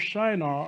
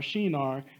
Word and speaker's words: Shinar: The Tower of Babel was in the plain of Shinar, or Shinar, depending on how you want to pronounce that, also located in Iraq.